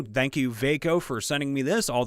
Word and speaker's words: Vako: freaking need them nowadays uh vako i would have said vodka because it's v-a-k-o thank you veyko for sending me this